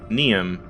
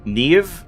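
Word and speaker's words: Niamh: Neum. Or apparently that's pronounced like Neve or something.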